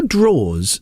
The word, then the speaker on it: drawers: Here's the thing: why are drawers spelt drawers? DRAWERS. That's how drawers are spelled. That is because the ERS is silent. The ERS. Well, the ER is silent.